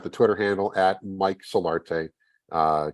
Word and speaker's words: Solarte: at Mike Solarte uh just like it just like I say it because uh the pronunciations I've gotten over the years on my last name are just how do you get solitire out of solar how do you how